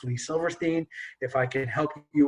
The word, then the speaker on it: Lee Silverstein: bit more to it okay my name is pronounced lee silverstein if i can help you with your career